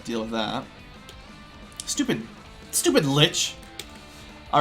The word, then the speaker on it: lich: with that stupid stupid Lich all right and I do realize that some people pronounce it Lish or leash or something like that it's it's one of